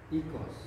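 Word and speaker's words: οἶκος: Ya, Omikron iota itu dibaca i juga, ya. Contohnya ikos. Ya.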